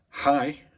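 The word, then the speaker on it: hej: Hi, Sverige. That is hello, Sweden. Hi is spelled H-E-J.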